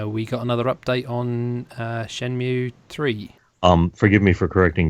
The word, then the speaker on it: Shenmue: you will realize that the title of the game is properly pronounced Shenmue. Shenmue, And so this is.